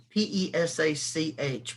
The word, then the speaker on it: Pesach: sacrifices so the hebrew word for passover is pesach it's p-e-s-a-c-h pronounced pesach and it means to come under the